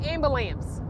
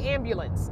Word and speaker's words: ambulance: it comes up but I do not say amber lamps I do say ambulance I pronounced that right because that gets on my nerves when people say amber lamps amber lamps what's that amber lamps I do say ambulance I do pronounce that correctly so I don't get